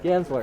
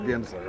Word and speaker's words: Guenzler: And I actually, Guenzler. Guenzler, yeah. It's I'm going to pronounce it correctly. Yeah, it's All a German That's name. how we go with it, Guenzler.